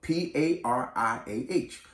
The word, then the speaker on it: pariah: And you basically spell it like the name Mariah, but instead of an M, it's a P. So P-A-R-I-A-H, pariah.